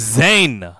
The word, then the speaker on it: Zane: warriors for Corrections here apologies for getting the name wrong it is Zane the man who's pulling